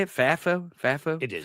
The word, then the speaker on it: FAFO: FAFO? FAFO? It is. FAFI? FAFO. Yeah, FAFO. Here's what I want the audience and maybe to convince other commentators of this, is that we can have FAFO.